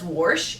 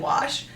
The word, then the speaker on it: wash: who lives in Missouri says warsh instead of wash there's not an r in wash I always said wash